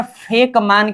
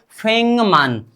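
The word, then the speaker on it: 백만: ग को परिवर्तन करेंगे। म बनाएंगे। लेकिन म को कभी नहीं परिवर्तन करेंगे। म का क्या ही रहेगा? म ही रहेगा। मतलब यहां पर फेक मान के जगह पर हमें क्या बदलाव करना है? फेंगम। क्या फेंगम क्या बोलना चाहिए? फेंगमान।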